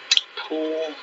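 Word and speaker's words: Pujol: of racist customer cory i believe it's pronounced um pool anyways last name is p-u-j-o-l defends himself from a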